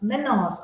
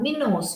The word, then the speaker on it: Minos: of fidra and menos menos or minos you can pronounce either minos is the father